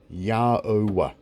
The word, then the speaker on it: Yahweh: So you could say God's name phonetically, and it is Yhwh, Yahweh.